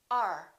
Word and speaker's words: our: at this one our we don't say this is our house we say r r this is our house